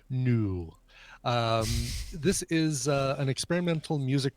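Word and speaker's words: Nous: great Scott this is a band called noose or knew and owe us so if it's the French pronunciation probably new this is an experimental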